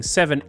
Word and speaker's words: VII: in roman numbers uh but it's technically speaking seven and since we're on this same matter yes